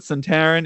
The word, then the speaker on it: Suntarine: Suntaran, because I've been calling him Suntaran or Suntarine or Suntarine. There's a lot of ways you can try to pronounce it. So many great options. I know, but Suntaran is the way to pronounce it.